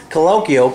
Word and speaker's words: Colokial: Okay, we are here at Colokial, correct?